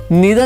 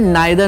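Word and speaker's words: neither: ठीक है, इसको नीदर नॉर भी कहते हैं, नाइदर नॉर भी पढ़ते हैं, इसको इधर और भी पढ़ते हैं और आइदर और भी पढ़ते हैं। दोनों ही प्रोनाउंसिएशन बिल्कुल सही है।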